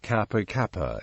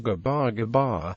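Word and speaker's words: Gabagaba: even food name origin the name Kappa Kappa is an English mispronunciation of gabar gabar the Coastal Village where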